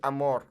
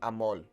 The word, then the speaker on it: amor: yoga what is this when he says Amor right there it sounds like he's saying amol with an L let's go back and